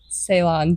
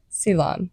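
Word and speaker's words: Ceylon: lot more tea um Salon tea it's very good oh I say it wrong righton silon I say this wrong I don't know why I can't learn it um but they're famous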